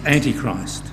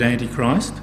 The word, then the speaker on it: antichrist: says that antichrist and let's put a k in there to help us pronounce the ch he says it's a